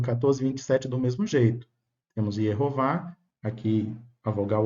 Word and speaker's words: Yehová: Com a letra O formaria direitinho as duas sílabas Yehová.